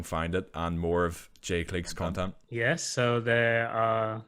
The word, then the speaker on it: Jay Clique: If you're a Spotify head, or, you know, iTunes or Apple Music even, you can go there, just type in Jay Clique. The Clique is spelled like Clique, so it's CLIQUE, just for those who don't know, and Jay is JAY.